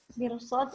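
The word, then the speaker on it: مرصاد: Mirsad itu tebal bacanya ya. Nanti bisa ahwati fillah kasih tanda ya. Inna rabbaka labil mirsad. Nah, itu tebal. Jadi bukan inna rabbaka labil bukan mir.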